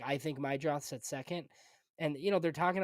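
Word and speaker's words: Meidroth: John asked about Mydroth.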